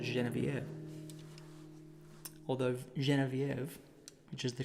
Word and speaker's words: Genevieve: Although Genevieve, which is the correct way to pronounce her name, doesn't rhyme very well. So this is Genevieve.